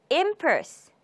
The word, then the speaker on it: impulse: impulse, impulse. 첫 음절에 강세가 있죠. impulse.